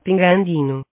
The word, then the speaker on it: pingüino: Here, we have pingüino. The word is incomplete. This word is supposed to be pronounced. Pingüino.